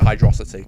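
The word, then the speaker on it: Hydrocity: I I pronounced it Hydro City Hydro City because it's all one word I used to pronounce it hydrosity cuz I thought it sounded like velocity I can understand it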